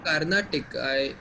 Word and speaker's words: Carnatic: Sir, Carnatic. I think I mispronounced it.